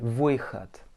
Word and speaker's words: выход: Et le D, bien comme un T. Выход.